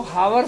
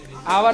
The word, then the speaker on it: hour: H यहाँ पे silent रहता है। जब O के पहले H आता है तो ज्यादातर केस में क्या होता है? H साइलेंट रहता है। ठीक है, तो इसलिए अपन इसको हावर नहीं पढ़ के क्या पढ़ेंगे? आवर पढ़ेंगे।